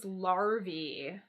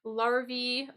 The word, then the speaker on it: larvae: one of these so the singular is larva but this the pronunciation changes when we make it plural so in this case it becomes larvey so that's kind of